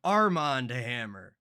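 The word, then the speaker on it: Armand Hamer: I think they're wrong Armand Hammer because it's spelled one word Armand it's not two words and I believe the word play is the joke that it's actually spelled Armen Hammer like the baking soda but everybody want me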